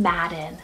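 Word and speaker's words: Maddyn: and for girls but I love the name Madden spell m-a-d-d-y-n now this was or is going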